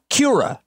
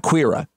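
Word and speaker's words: Kia ora: where I learned the word court Kira Kira Kira not queerer Kira is like a greeting so I tried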